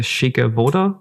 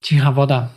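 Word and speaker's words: Cicha Woda: the word down and I'm probably going to say it wrong. The Shika Voda? Chiha Voda.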